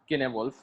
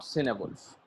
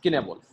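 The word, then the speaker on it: Cynewulf: It should be pronounced Kenewolf, not Cinewolf, as many people do. That it is not Cinewolf, it is Kenewolf. and it is pronounced in that way in the Old English.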